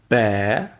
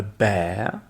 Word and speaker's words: bear: Ensuite, vous avez la différence de prononciation entre bear, qui est un ours, a bear.